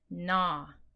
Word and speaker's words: gnaw: When you see W-R-K-N-G-N at the beginning of a word or syllable, the first letter is silent. Okay, this word is wrap. This word is knit. This word is gnaw. Okay, the silent letters mean the W, the K, and the G. All are silent.